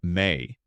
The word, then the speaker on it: ME: he held within it the ME, pronounced May, a collection of divine tablets encoding the fundamental laws of civilization.